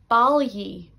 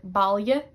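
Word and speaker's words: bailigh: I pronounce that like E. For example, balyi, balyi, which means to collect or gather. However, this varies a lot in dialects. Connacht would say like balye, balye, and Munster would say balyig. They pronounce that G, but I say balyi. It's like a E sound.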